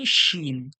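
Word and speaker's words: شين: দেখতে এটা হলো কি শিন এটা হলো কি শিন হালকা সিটির মত উচ্চারণ হবে জীবের মাঝখান ওর সোজাসুজি তালু থেকে চেপে বলতে হবে শিন জীবের মাঝখান ওর সোজাসুজির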